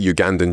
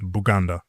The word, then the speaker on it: Uganda: Um, straight Ugandan ginger quality stuff. You know, Uganda is actually pronounced Buganda. Buganda. And that's how the locals call it.